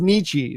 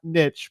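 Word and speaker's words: Nietzsche: I bet most people didn't get that it's pronounced nii not Niche but there was there's a lot of those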